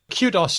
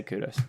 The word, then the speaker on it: kudos: So Australians say kudos to you, whereas Americans say kudos to you. And that's why I say kudos.